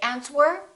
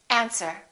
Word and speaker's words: answer: all right one more silent w answer don't say ants were say answer these are the most